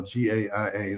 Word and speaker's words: Gaia: There's a series on Gaia, the Gaia channel, GAIA, that's how I pronounce it, Gaia, that's called Inner Evolution.